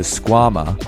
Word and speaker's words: Squama: The Squama, or rhymes with your mama, is a high-performance Velcro slipper aimed at getting you boulderers up your sickest project.